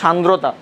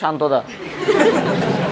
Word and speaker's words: সান্দ্রতা: এই তোমাদেরকে তো পদার্থের গাঠনিক ধর্ম পড়াই নেই, ওদেরকে গাঠনিক ধর্ম পড়াইছিলাম 26-এর না, উচ্চারণ হচ্ছে সান্দ্রতা, ওরা কয় শান্ততা। ঠিক আছে, যাই হোক।